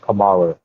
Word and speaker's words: Kamala: When I listened to you, they said Kamala. How is her name pronounced?